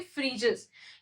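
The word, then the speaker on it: Phryges: बढ़ते ही हमारी next news की तरफ, जो कि है द फ्रीजस, ठीक है, इसको क्या प्रोनाउंस करते हैं, फ्रीजस।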